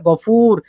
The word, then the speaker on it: গফুর: যেমন এখানে গফুর, ফায়ের পরে ওয়াও আছে, আপনারা গফুর টান দিয়ে বলবেন।